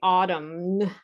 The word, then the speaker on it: autumn: and many students say autumn and the n is silent you can take a picture of this if you want and practice this yourself.